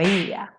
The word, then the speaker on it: är: When we speak really fast, the word är, which means is or are, kind of becomes more an e sound, like e. For example, if I want to say I am, I would say jag är. But if you speak really fast, you would say instead jag är. So är becomes e instead, especially in some regions like Stockholm, for example.